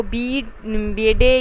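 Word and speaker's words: Bede: Work जो है वो बेडे या बीड्स, जिसे आप कह सकते हैं बेडे कह लें या बीड कह लें, ये जो नेम्स होते हैं इनकी कोई ख़ास प्रोनाउंसिएशन होती नहीं, तो जैसे आप लोगों को ईजी लगे आप वैसे यूज़ करें।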